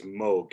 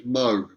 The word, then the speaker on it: Moog: Oh, by the way, do you say it a Moog or do you say it as Moog, you personally? I think that the correct pronunciation is Moog, and I've heard that from the horse's mouth, so I'm pretty sure Okay.